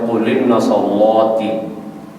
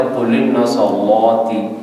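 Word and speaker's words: قل إن صلاتي: ہے قل ان صلاتي۔ ایک تو حمزہ قطعی کا حذف ہے جو ان کے شروع میں آ رہا ہے، لام پر جو جزم ہے اس پر حرکت آ رہی ہے حمزہ والی، تو تلفظ ہو رہا ہے قل ان صلاتي۔ تو میں نے اس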